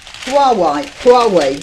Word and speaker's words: Huawei: Now, senior Tories form Wolverines group to oppose how do you pronounce that? Huawei, that's it, that's how it goes.